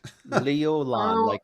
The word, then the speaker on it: Leolan: Same deal with you, Leo One. Leo One. Am I saying it right yet? Leolan, like a LAN party.